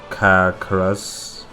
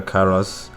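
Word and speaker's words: Karass: the um high templar caracaras what karas yes carlos sorry i think i pronounced his name wrong there yes but high templar karas and him sacrificing his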